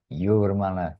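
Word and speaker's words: Jūrmala: Yeah, he'll be in Yurmala. After all these years, the J is pronounced as Ya, Yurmala.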